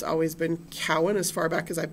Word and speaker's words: Cowan: Um, I work a lot with Jewish family history and so people see my last name Cowen and they pronounce it Cohen and invariably somebody's going